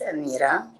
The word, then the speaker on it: Amira: sofia and yes you said it's right it's amira and i'm really excited to go into this